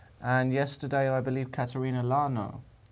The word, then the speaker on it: Lagno: And yesterday, I believe, Katerina Lagno. I believe that's correct pronunciation. Lagno. Lagno? I've heard people say Lachno, but Lagno. I think it's Lagno.